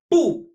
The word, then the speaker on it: 部: 不. Pronounced exactly like no.